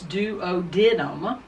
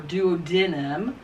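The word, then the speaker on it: duodenum: doesn't matter okay so according to this textbook it's dood denim or dood denim the other way to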